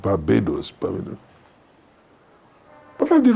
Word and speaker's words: Barbados: names etc somebody said I come from Babados And the English man said, "Why don't you try calling it Barbados?"